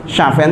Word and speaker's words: Syafi'an: Syafi'an itu kan bacanya yang benar.